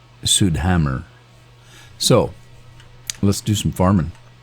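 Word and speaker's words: Südhemmern: I call psea fed I'm told it's pronounced sud Hammer so let's do some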